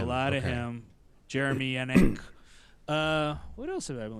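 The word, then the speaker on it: Enigk: I've been listening to a ton of, I can never say his name right, and I looked up how to say it, and it was one of those weird phonetic things. Jeremy Enick.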